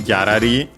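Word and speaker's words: ギャラリー: But yeah, this one, gyarari, also notice the first ra, because of course Japanese doesn't have the L sound, and so it becomes the closest one, which is R.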